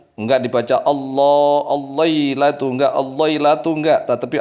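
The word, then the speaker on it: الله: Tidak dibaca Allah atau Allah atau Allah, tapi dibaca Allah.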